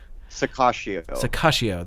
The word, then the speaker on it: Sirocco: second one's, the second 2 C's are soft. Yeah. Sakashio.